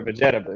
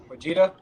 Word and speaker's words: Vegeta: was like hey man is it vegeta or vegetable he's like vegeta vegeta and that was it he